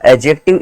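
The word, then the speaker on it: adjective: लोग कैसे याद करेंगे एडजेक्टिव में दी साइलेंट होता है बेटा साउंडेड नहीं होता है जो दी होता है वो क्या होता है साइलेंट होता है साउंड नहीं होता ध्यान में रखना कहीं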